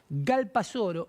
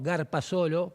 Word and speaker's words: Galpasoro: Lo quiero pronunciar de nuevo. Galpasoro y no Garpasolo, como con malicia me dijeron el fin de semana. Lo dijeron mal.